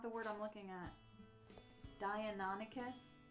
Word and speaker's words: Deinonychus: Dianonicus? Deinonychus. Yeah, actually. If I look at the word again, slower. Deinonychus.